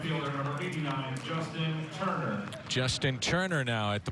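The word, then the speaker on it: Toerner: right field last inning t o e r Neer but pronounced Turner out of Scottdale Arizona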